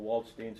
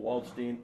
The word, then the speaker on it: Waldstein: Now, Waldstein is our American pronunciation of Waldstein. So if this gets out there to wherever, I better do the Waldstein thing, because otherwise I'm going